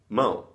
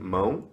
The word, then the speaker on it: mão: For instance, in terms of pronunciation, one sound that is really hard for foreigners to nail in Brazilian Portuguese is the ão. And many words end with ão. For example, hand, mão. Bread is pão.